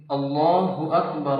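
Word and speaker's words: الله أكبر: ভুল করে কেমন হয় ভুল করে অনেকে পড়ে আল্লাহু আকবার আবার অনেকে বলে আল্লাহু আকবার বল টান দেওয়া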